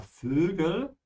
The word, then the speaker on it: Vögel: Yeah, Vögel. You need to flatten your lips to do the umlaut here above the O. Ö. Yeah, like that.